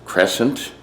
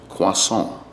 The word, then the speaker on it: croissant: This is, it's pronounced several different ways. The English way they pronounce it here in America is crescent. Sometimes they say croissant. In France it's pronounced croissant.